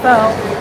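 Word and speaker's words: phở: So if you like pho, which some people call it pho, but I've been told it's pronounced pho in Vietnamese.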